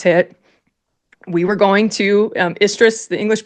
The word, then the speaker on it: Istres: And when those deployment orders hit, we were going to Istres, the English pronunciation in the south of France.